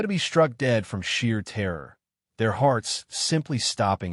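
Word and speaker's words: Sidhe: It is tied to the belief in the Sidhi, pronounced she, the powerful otherworldly race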